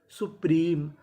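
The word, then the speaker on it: supreme: पी एम ई मी अब देखिए यहां पे एम ई की आखिरी में इ है और आपको पता है कि इ का उच्चारण हमें नहीं करना तो मीनिंग क्या बनी सुप्रीम सुप्रीम सुप्रीम का मतलब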